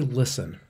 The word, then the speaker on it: LSTN: a profit the company listen which is spelled lstn was founded in 2013